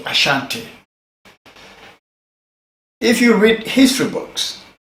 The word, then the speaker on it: Ashanti: now what is aanti or what normally is pronounced Ashanti Ashanti if you read history books there is an